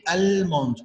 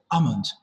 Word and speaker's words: almond: but it's silent letter we don't pronounce el we don't say almond no it's a silent so we say we just drop it almond okay so what's almond